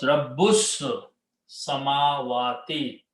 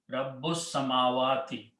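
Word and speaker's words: رب السماوات: And you read this together, Rabbus. You don't pronounce this. This was not pronounced to begin with. So combine seen with Rabbu to the seen. So it becomes Rabbus Samawati.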